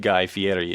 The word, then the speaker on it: Guy Fieri: But I mean, I feel that Jimmy Ray is probably rockabilly in the same way that Guy Fieri is rockabilly, and that he's Don't not.